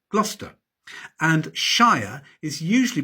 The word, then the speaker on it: Gloucester: There are no absolute rules in English place names, but Cester is usually shortened to Ster, Bicester, Gloucester, and Shire is usually